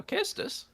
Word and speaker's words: Kestis: I don't know how it's pronounced. Casestis. Yeah, Kestis.